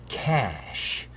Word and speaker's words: cache: it in something called Cash that's spelled c a c h e kind of looks like cach a iess guess maybe it's a French word but cach memory uses